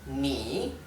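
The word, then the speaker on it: 你: Por lo tanto, este, que tiene como un techito dado vuelta, invertido, es ni.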